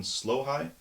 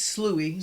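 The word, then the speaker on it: Sloughi: B the English foxhound, C the North African Slohai. Am I pronouncing that right? I think it's Slooh.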